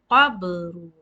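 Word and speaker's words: قبر: This is called shaking. Qabru. You can hear the sound qab, qab.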